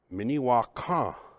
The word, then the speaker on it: Minnewakan: of this town called Minnewakan. Minnewakan. Minnewakan is what Dakota people would pronounce it.